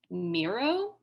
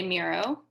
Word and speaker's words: Miro: the charade today we're using a tool called miro has anyone used miro before yeah i see some nods it's great right um yeah mira is really fantastic so we're going to be